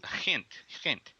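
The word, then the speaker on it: Gent: sound to many americans it's kind of almost like a like a yiddish pronunciation yeah it is actually it's very similar yeah okay hint but you went to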